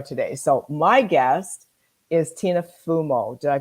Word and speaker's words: Tina Fumo: So my guest is Tina Fumo. Did I pronounce it right? Yes, you did. Yep. Good. Tina Fumo.